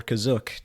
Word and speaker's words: Kashyyyk: about my friends on Kashyyyk or Kazuk, depending on how you choose to pronounce that? I'm sorry, Kazuk? Yeah, that's apparently how it was supposed to be pronounced, according to a source.